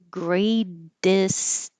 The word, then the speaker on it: greatest: But if you have a vowel after it, you will hear this T change to D. Greatest of all time. Greatest of all. Greatest. This T is a D.